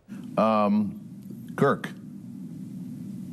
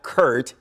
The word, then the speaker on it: Kirk: is trending on Twitter Kirk yes Kirk Kirk Kirk Cousins Kirk KRK yes right when we know you and I've talked about this you know it's Kirk earlier today Kirk not Kurt cousins on 106.7 the